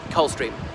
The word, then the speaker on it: Coldstream: of England, near Scotland, Coldstream. But the regiment's always pronounced Coldstream, with the D dropped.